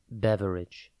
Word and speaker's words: beverage: Today's word is beverage. It is pronounced bev-ridge and spelt B-E-V-E-R-A-G-E.